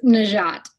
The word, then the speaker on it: Nageotte: larry eddie with katie naji out katie am i pronouncing your last name correctly it close it's najjat she's a nike sponsor